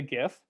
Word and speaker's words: GIF: This is a GIF. If anybody does, I'm a hard G guy. I'm not a soft G guy. I don't believe in GIF. I think it's GIF.